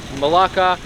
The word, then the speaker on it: Malacca: this beautiful city called malacca also known as maleka they're spelled kind of different and both spellings and pronunciations work and we are here